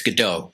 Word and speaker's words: Gadot: by patty jenkins starring gal gadot it's it's godot that's how she pronounces it right i think